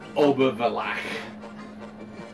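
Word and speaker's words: Obervellach: And Obervillach. Right. You gotta have it in your throat. Obervillach.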